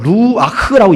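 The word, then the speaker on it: רוח: 왔더라라고 하는 것이죠 여러분 성령은 원문으로 루아크라고 얘기합니다 루아크 발음하기가 좀 어려웠던 루왁 크 이렇게 발음합니다 참고로 상시로 알아두세요 성령은 누가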